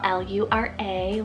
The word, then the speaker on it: Lura: italian rooted meaning baby girl i have laura lura l-u-r-a lura it's german rooted meaning alluring then we